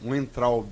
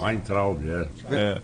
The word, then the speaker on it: Weintraub: Tanto Abraham Weintraub, né? Weintraub, Weintraub, depende da região da Alemanha, né, que você fala.